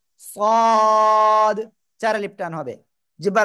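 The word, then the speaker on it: ص: এ অক্ষরের নাম কি মোটা আওয়াজে পড়তে হবে সদ সদ চার আলিফ টান হবে জিহ্বার আগা সামনে নিচে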